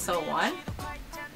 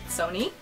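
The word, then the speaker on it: SONE: is the sonisha days fan club name is pronounced so one but i pronounce it sony fact number 18 i love romance and i'm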